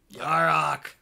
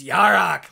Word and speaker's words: Yarok: You mean Yurok? Is that how you pronounce that? Yarok? Yarok. Yarok. There, yeah, you have to say it like, it's Yarok, like that.